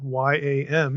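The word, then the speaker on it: ים: After all, English yam, Y-A-M, is spelled the same as Hebrew Y-A-M. And I'll pronounce both the same way to make the point, exactly the same, yam.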